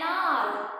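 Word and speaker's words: hour: See the pronunciation. An R. H is silent here. The sound is R.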